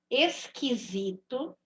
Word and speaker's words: esquisito: U não seja pronunciada não vou ouvir o som do U Então são esquisito não tô ouvindo o som do u tô ouvindo o som do q e do I esquito almanaque panqueca quilo